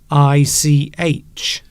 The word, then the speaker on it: Greenwich: Yes, it's strange because that word there, you don't pronounce the two E's. You only pronounce one E, and the W is silent. What are you talking about? Greenwich.